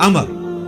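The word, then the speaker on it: عمرو: लफज़ उमरू तो कोई लफज़ ही नहीं है।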